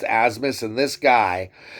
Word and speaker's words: Abmas: Max Asmus is the man. He gets it done for him. It's spelled ABMUS or ABMAS, Abmes, but it's pronounced Asmus.